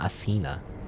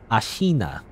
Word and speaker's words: Ashina: you could say ashina i guess ashina not asina as ashina is how you're supposed to say i believe i guess